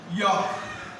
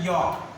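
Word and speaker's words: yolk: York. Third is a York. L is a silent.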